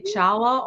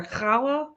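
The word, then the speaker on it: challah: people mispronounce words but if they say Chala over kala oh my God yeah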